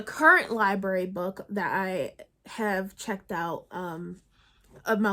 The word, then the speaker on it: Ha: Almost American Girl by Robin huh I think it's pronounced ha I hope so and this is a